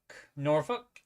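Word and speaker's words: Norfolk: stomping grounds uh suffk norfol and V Beach yeah we don't pronounce the L um oh still trying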